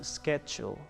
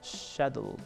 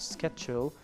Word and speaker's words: schedule: present schedule right this is sh know the pronunciation is schedule or Shadle but schedule is the one H we can just practice